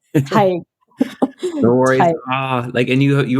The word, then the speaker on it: Tadgh: I pronounced your name incorrectly. I'm going to say it again. Tadgh.